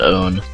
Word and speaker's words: pwn: Old school internet people are going to tell me that it's pronounced own. But I've always said pwn, so I don't know what to tell you.